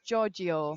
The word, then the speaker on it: Giorgio: So we've just been corrected on his on the John's surname, and apparently it's Giorgio.